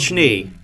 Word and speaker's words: Schnee: Spelled Schnee, but pronounced Schnee, which has, from the